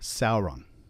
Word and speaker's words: Sauron: the sound and so EI is always pronounced a Au is a ow and so we get words like Sauron a i and AE